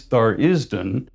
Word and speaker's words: Tharizdun: And though the correct pronunciation is Tharizdun, you're welcome to pronounce it however you want.